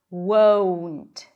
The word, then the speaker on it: won't: Won't. I always talk about this word because if you don't get to the W sound, if you don't pronounce the diphthong, it's going to sound like want.